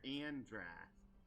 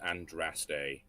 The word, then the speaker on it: Andraste: Bridge of the Maker, Andras. Is there anything else that I can examine? More books! Annoyingly, that's pronounced Andraste.